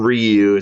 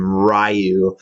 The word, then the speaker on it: Ryu: Um, which by the way, they do that thing in the movie, too, where some people call him Ryu, some people call him Rayu.